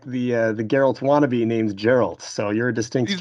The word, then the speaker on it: Geralt: I know that your name is Gerald, but I believe it's pronounced Geralt the Giraffe.